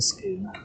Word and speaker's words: scone: Big Bad BG says it's not a scone, it's a scoon. I mean, that is the original Scottish pronunciation, so I can't fault you for your opinion there, BG.